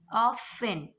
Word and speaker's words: often: Often. Now you can see here O and F together and before T, O and F together. So often, not T. Often, not often. Often.